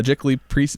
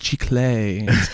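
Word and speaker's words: giclée: and I'm like hey I'm here for my Jack Lee pieces and he's like it's pronounced G clay it's museum quality archival paper it sounds good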